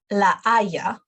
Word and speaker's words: La Haya: It doesn't really have any sound. You don't pronounce H at all. Entonces, no se pronuncia. We don't pronounce it. Por example, La Haya, it's the city.